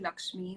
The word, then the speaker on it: Lxme: and i work with lakshmi which is pronounced lxme as you can see uh lakshmi is india's